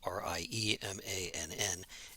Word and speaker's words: Riemann: special case what's called a riemann sum uh it's spelled r-i-e-m-a-n-n and it's pronounced riemann and what riemann sum